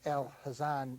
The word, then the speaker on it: Al Hazan: the way you're going your name is Al but it's Al Hazan if it's correct. That's correct. Some Middle Eastern pronunciation. It's a Turkish name actually.